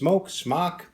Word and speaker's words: SMOK: Today I'm going to be doing a review on some SMOK products, pronounced SMOK.